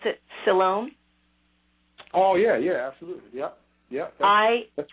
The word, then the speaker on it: Siloam: So when I read about, and hopefully this is the right way to pronounce it, Siloam.